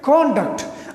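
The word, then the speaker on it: conduct: تو اب اس کی دو ورژنز ہیں, ایک ورژن اس کا ایک تلفظ کا ہے کانڈکٹ. اگر یہ ناؤن ہو تو اس کی جو فرسٹ سیلیبل ہے اس پہ اسٹریس ہوگا, کانڈکٹ, اس کو اسپیس کانڈکٹ.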